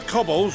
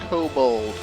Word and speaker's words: kobold: the maelstrom and the cobbles with a lunar primal operation so we thought we'd see you off before heading to the tower does that man literally just say cobbles it's pronounced kobold and the others wish